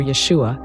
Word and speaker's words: Yeshua: this is Jesus actually yeshu or Yeshua is how Jesus name is pronounced in Hebrew but what does the